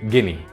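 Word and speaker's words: Guinea: بالظبط هو مربط الفرس، لان كلمه غينيا بالانجليزي بتتنطق جيني.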